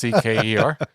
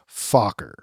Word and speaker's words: Fokker: Oh, just like it's spelled. Fokker. Fokker.